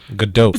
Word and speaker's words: Gadot: Gal Gadot. It's spelled G-A-D-O.